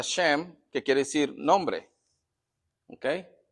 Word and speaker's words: Shem: siendo sem ahora sé en hebreo se pronuncia shem que quiere decir nombre